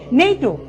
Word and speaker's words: NATO: আর এখান থেকে মনে রাখবো, যেমন পড়ছি নেইটো, আমি কিন্তু পড়ছি না NATO, এরকম কিন্তু পড়ছি না, আমি একটি শব্দের মতো পড়ছি নেইটো।